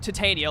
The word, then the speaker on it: Titania: Last time we took over the dock, no, you don't pronounce it Titania. It's pronounced Titania, like titanium.